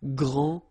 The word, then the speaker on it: grand: You don't pronounce the final D, you don't the D here, and you don't pronounce the final S. Okay, so grand, and then same thing here, grand.